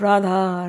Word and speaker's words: Radha: one sound RHA rad Radha RHA and you hear the sound of R RHA rting through the entire vavan your mind is now going following the sound of Radha Radha Radha two syllables and who is rting